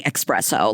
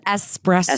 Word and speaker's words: espresso: I grew up saying espresso like that's I think a lot it is in the accent specifically but working for a coffee company for a long time then it really really starts getting flagged in your brain it is espresso espresso and something that I